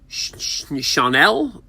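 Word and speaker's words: Schanuel: And then just a little while ago, Chanel, that's how you pronounce his name, first baseman for the Angels, was picked up.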